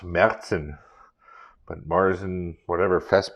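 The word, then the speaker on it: Märzen: that's a good one i believe in german it would be pronounced merzen but mars and whatever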